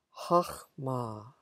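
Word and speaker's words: חכמה: 하흐마. 하흐마라고 읽으셨나요? 네, 호크마라고 혹시 아시는 분들 발음이 하흐마입니다. wisdom, 지혜이죠.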